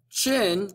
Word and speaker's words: Qin: this dynasty was the qin dynasty chin pronounced c-h-i-n spelled with a q is where china gets